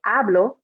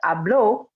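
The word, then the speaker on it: habló: yo form this one we have to make sure that o is strong because if you say hablo then that means something different that means i speak in present tense but hablo is he she or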